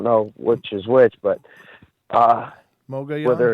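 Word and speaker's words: Mogollon: Mogayan is how you say it. Mogayan. Yeah. It's Mogayan.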